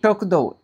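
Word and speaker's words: しょくどう: শোকদৌ, এটা হচ্ছে যুক্তবর্ণের শো।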